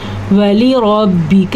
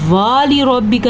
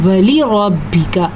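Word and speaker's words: ولربك: تستکثر۔ ولی ربک، را پر پڑی جائے گی، کاف کو لمبا نہیں کرنا، واو کو لمبا نہیں کرنا، والی ربک نہیں کہنا، ولی ربک، تلفظ پہ دھیان دیں،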